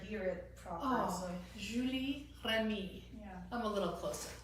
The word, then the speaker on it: Julie Remy: who's going to tell us really how to pronounce her name. Okay, it's Julie Remy, but I barely ever hear it proper. Oh, so. Julie Remy.